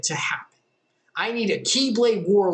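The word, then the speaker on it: χ-blade: where it gets stupid it's called the keyblade but it's spelled x blade because the x is the greek letter standing for key and it's new center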